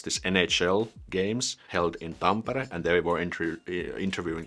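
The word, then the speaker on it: Tampere: when there was this NHL games held in pampara and there were interview interviewing this one's NHL player American they pronounced that tambara where the city where the game was held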